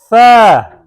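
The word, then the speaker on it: ث: So the way you're going to pronounce tha, this is a liswiya letter, is pronounced from the tip of the tongue. Yeah, like I said before, tip of the tongue, touching the inner edge of the top two front teeth.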